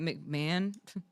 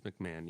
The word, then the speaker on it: McMahon: McMahon. Vince McMahon. Yeah. Yeah. Okay. God McMahon. I have a joke last name. No offense to anybody who actually knows a chill last name with McMahon.